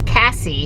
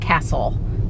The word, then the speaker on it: Cassi: check it out so it's Cassie c-a-s-s-i not Castle c-a-s-s-l so we've been saying it wrong sorry and we're here